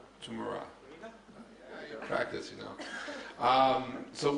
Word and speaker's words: Tmura: director of T how do you how you pronounce it t tumra tum tumra oh all right I'll try later I'll practice can't can yes all right tumur practice you know um so when just real